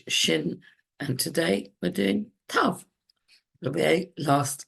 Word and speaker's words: Tav: Tav usually is pronounced T, as if it's got a dot, a dagesh in it.